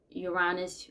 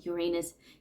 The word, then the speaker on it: Uranus: However, I do have Neptune and Uranus or Uranus, however you want to pronounce that.